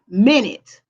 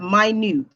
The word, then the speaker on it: minute: minutes in an hour however the other pronunciation of that word is minut meaning small so you have minute and you have my new this both spelled the same but it is pronounced differently and they have different